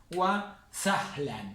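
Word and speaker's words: وسهلا: hay n es esto wa sahlan fíjense que no hay n el sonido de la n es este y este año no se pronuncia estos son tubos adverbios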